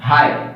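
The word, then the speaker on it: high: आप कोई सा भी वर्ड देख रहे हैं, जैसे कि एच आई जी एच, क्या बोलते हैं हम, हाई, ठीक है।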